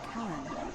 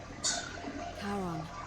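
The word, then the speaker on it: Charon: it's just as you described it only your pronunciation is a little up the name you heard wasn't Karen it was c h a r o a that's in Harry one of the Dead Caron who in exchange for the right coin helps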